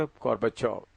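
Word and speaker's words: Горбачёв: ये ची भी लिखते हैं तो लेकिन प्रोनाउंस करते वक्त गोर्बाचोव।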